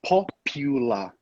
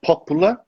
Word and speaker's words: popular: With that one, we say popular. Popular. Popular. Yes, exactly. Popular. And not popular, not popular, not popular, popular. Popular, population, right.